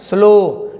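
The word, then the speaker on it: slow: narrow क्या पढ़ेंगे narrow स्लो वो पढ़ रहे है ना स्लो डब्लू को हम नहीं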